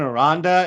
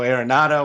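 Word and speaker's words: Aranda: off the top is it's jonathan ronda it's a-r-a-n-d-a uh if you listen to grey's pronunciation you may be going a little aronado with an a on the end yeah it's b-r-a-y-a-n for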